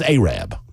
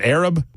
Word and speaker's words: Arab: in Alabama oh and that is aab and let me assure you if you are a 27-year-old newsman in mcgomery Alabama and you're doing a story about Arab and you pronounce it Arab the phones will ring yeah they will light